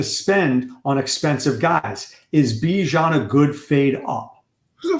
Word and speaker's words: Bijan: Bijan. And the reason why I want to say Bijan, because it rhymes with Dijon.